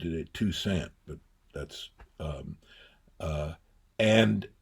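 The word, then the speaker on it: Toussaint: Tusant tusaint he pronounced it two cent but that's um uh and so I moved there.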